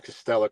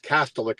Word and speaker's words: Kastelic: had a Kastelic, sorry, I always call him Kastelic because his dad played in London. Ed Kastelic, but Kastelic is how you say his last name.